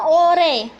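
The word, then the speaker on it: 올해: Nah, ore di sini artinya adalah tahun ini, tapi dibacanya atau romanisasinya seperti ini ya Robun. Orhe. Nah, tapi dibacanya ore.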